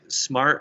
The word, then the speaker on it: SMAR7: Everybody, smart is spelled with a 7. It's SMAR7. It's pronounced smart.